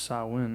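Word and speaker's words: Samhain: the ancient Celtic Festival of sah oh sawin pronounced sawin oh that's a weird way to say it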